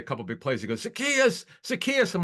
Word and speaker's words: Zaccheaus: He goes, Zaccheaus.